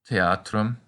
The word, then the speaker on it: theatrum: If you can manage that, congratulations, but it seems like most people just pronounce them as k, t, and p. So you can say pulcher, theatrum, and ampora.